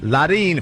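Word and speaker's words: Leryn: Larine Franco.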